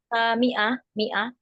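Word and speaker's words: مائة: 500 m itu ustazah miah tulisannya fathah dibacanya kasrah miah baidan adidi minus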